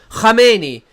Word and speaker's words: Khamenei: Khamenei would be how it's pronounced.